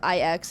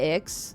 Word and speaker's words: IX: Damn, they really said it as IX, not Ix. L take right there. It's pronounced Ix.